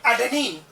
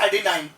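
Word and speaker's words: adenine: पहला प्यूरिन है क्या, ये एडेनिन। एडेनिन प्रोनाउंस करें या एडेनाइन, एक ही मतलब है, अलग अलग प्रकार के प्रोनाउंसिएशन अलग अलग यूज करते हैं, उसमें कोई ज्यादा प्रॉब्लम नहीं है।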